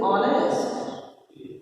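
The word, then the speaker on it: honest: अब क्या है ऑनेस्ट को जब हम हिंदी में लिखते हैं तो ऑनेस्ट है ना, तो ये साइलेंट है ऑनेस्ट को बोलते हैं इसे ऑनेस्ट।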